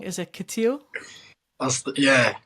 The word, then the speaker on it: Katiyo: in the north Feast correct as if I pronounce it wrong is it ctio that's yeah ctio oh that's twice I've done that you know